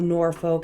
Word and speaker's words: Norfolk: the various Dukes of Norfolk invested more time in the other ducal Estates including nor Norfolk house norfol oh that's how they say it down south but uh